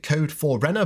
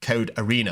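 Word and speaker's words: Code4rena: I was always saying Code 4 Renner, but I think this is like an old school, like a gamer thing where the 4 represents an A. So from now on, we're pronouncing it Code Arena.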